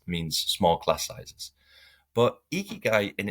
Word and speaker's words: ikigai: But ikigai in its is like the intersection. Ikigai is like two syllables in Japanese, and iki Hmm.